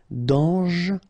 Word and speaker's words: dangereux: Dangereux, final X not pronounced, and then don't really pronounce this E here, okay, so you get dangereux, dangereux.